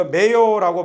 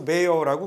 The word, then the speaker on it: mayor: 그래서 mayor this year 올해는 누가 시장에 출마할 거니 발음 조심하시고요. 이거 mayor라고 발음 잘못하면 마요네즈 되거든요. 그래서 이건 mayor이라고 발음 정확하게 하셔야 됩니다. 예, 마요네즈를 줄여서 mayor라고 그래요.